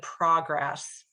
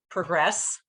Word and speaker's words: progress: word progress, for example: You're making good prógress. You can hear that emphasis is on the first syllable, but if you look at the verb form of that word, it's progréss. It's on the second syllable, so that's kind of